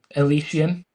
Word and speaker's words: Elysian: Elysian. Elysian. Okay. Yeah. Elysian. Yeah. I think Good stuff. I think it's a common concept of a utopian society, right? Yeah, like it's Elysian field or something.